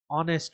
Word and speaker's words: honest: We say honest man. Here honest starts with a silent H.